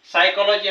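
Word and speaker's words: psychology: काही आपण शब्द पाहू पी सोबत जर एस असेल तर इथे बघा सायकॉलॉजी हा शब्द आहे हा अतिशय महत्त्वाचा शब्द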